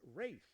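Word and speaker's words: Ralph: acting for 300 please concerning the pronunciation of his name this star of The English Patient said it's wraith actually who's Ray findes player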